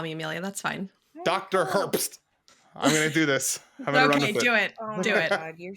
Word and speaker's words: Herbst: do not want to mess that up it's Herbst um I if we wouldn't get fancy we